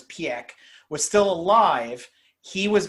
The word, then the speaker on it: Piëch: However, when Ferdinand Piëch, and that's how you pronounce it, a lot of people say Peach and Pike, and a lot of it's Piëch, was still alive, he